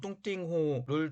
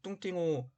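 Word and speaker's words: 洞庭湖: 하는데, 호광이라고 하는 지역은 현재의 동정호, 중국어 발음으로 뚱띵호를 중심으로 한 지역을 뜻합니다. 지금은 동정호, 즉 뚱띵호 북쪽에는 호북성, 중국어 발음으로 후베이성이 있고, 남쪽에도 호남성, 중국어 발음으로 후난성이 있습니다.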